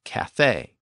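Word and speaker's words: café: words from those languages we have words in Modern English where the letter e still has that original a sound so for example words like Cafe and Latte and in combination with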